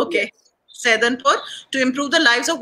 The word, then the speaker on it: Saidanpur: How do you pronounce that? Saidanpur. Okay, Saidanpur.